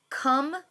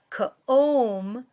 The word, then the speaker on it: come: But this time, did the silent E make the vowel O in the middle long? It's not ka-om or sa-om.